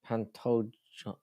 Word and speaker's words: Pantoja: Pantoja is like Dijon. Pantoja.